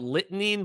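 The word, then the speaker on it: Litening: It's spelt lightning, but it's pronounced lightning.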